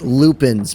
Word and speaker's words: lupin: These are called lupins, by the way. I looked it up. I looked up the pronunciation. What I found was lupin.